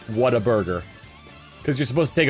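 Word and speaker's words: Whataburger: but like it's like it's got different pronunciations wh ha a t a burger what a burger cuz you're supposed to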